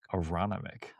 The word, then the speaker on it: Aronimink: Aronimink. Okay. Aronimink.